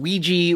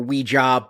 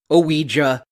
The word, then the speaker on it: Ouija: so it is pronounced Ouiji or Ouija but it is two syllables I also found myself pronouncing it IGA for a little while